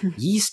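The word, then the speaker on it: Ys: Let's talk about the last game, which is Yeast 10 Nordics. I've never played a Yeast game. I played a couple. Hillary's played a couple. Yep. I know it's pronounced Yeast.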